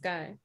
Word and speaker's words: Guy: It's pronounced Guy.